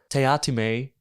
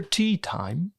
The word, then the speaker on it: Teatime: He tells us that his name is actually pronounced Teatime. Pratchett writes it out phonetically each time Teatime corrects someone. Mr. Teatime?